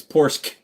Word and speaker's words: Porsche: wrong way now pors it's pors it's a strong C he e c pors uh